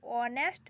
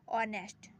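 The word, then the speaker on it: honest: एन क्यों लगा, देखिए ऑनेस्ट मैन, उच्चारण क्या हो रहा है, ऑनेस्ट, इसीलिए एन लगा।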